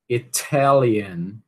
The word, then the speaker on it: Italian: Qual é a sílaba tônica de Italian? É a primeira sílaba? Sim ou não? Alguém conseguiu escutar a diferença entre Italy e Italian? Alguém? Alguém? A segunda. A segunda sílaba é a sílaba tônica, né? E o que é que acontece com esse T? Já que ele é tônico, ele vai virar T, T, né? Vai ser aspirado, ok?